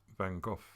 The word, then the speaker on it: van Gogh: but we are great van Gogh fans as Bridget said I mean I believe if you pronounce it correctly it sounds as though you've lost your voice but I I love